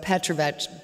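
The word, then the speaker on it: Petrović: All Serbian names end in IC, and it's pronounced exactly like bitch. Very easy to remember. So Petrovich, it's like Johnson, Anderson, Peterson.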